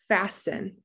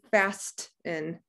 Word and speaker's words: fasten: anything to yourself okay what letter do i not hear fasten i don't hear the t if we could hear the t the word would be fast in but that's not how we say fasten yeah with silence k